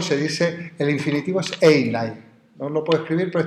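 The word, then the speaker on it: εἶναι: Ser, en griego se dice, el infinitivo es einai.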